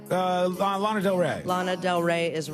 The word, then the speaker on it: Lana Del Rey: It rhymes with llama. Lana Del Rey.